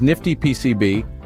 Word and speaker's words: NFTyPCB: we see today introducing nftypcb pronounced as Nifty PCB a platform that takes